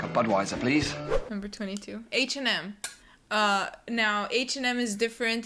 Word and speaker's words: H&M: all know we love H&M because it's cheap and trendy there you go that's where you go h& M just pronouncing the two letters as they are in the English alphabet yep number 23 Jack